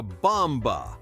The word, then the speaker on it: bomb: That is a bomba. Run. Stop. It is not bomboo. It is bomb. The b at the end is silent if it comes after m.